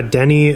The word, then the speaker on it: Denis: How do you pronounce the director's name? Is it Dennis or Denny? Yeah, Denis Villeneuve.